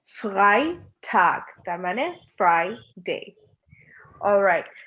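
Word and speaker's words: Freitag: একটা জিনিস আপনারা খেয়াল করবেন, যখন আমরা জার্মানে ই আর আইটা একসাথে রাখি, তখন আমরা প্রথম ক্লাসে বলেছিলাম এটা কিভাবে প্রনাউন্স করতে হয়। এটার প্রনাউন্সিয়েশন হচ্ছে আই। সো আমরা বলি গাই। সো আমাদের প্রনাউন্স করতে হবে এই ওয়ার্ডটাকে ফ্রাইটাগ, তার মানে ফ্রাইডে।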